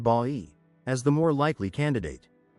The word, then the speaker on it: Bay: However, more recent linguistic and geographical evidence points to Bay, Laguna, pronounced Ba-i, as the more likely candidate.